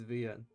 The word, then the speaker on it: VNyan: Okay, that's how the TTS pronounces it. It's Ven.